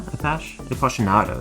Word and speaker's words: Appassionato: Yeah, Appassionato, that's how to say it.